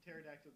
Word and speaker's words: Pterodactyl: Why can't you hear Pterodactyl go to the bathroom? Because the P is silent.